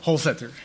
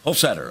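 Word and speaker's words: Holsether: of your last name I could imagine it with a hard t or th sound help us whole Setter whole Setter okay um um uh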